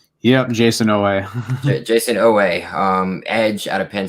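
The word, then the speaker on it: Oweh: our next guy is going to be jason owen um did i say it right yep jason no way jason oh way um edge out of penn state perhaps probably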